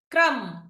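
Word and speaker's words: crumb: బి ని పలుకుతున్నాం right coming to option C క్రమ్ క్రమ్ coming to option D తం తం సో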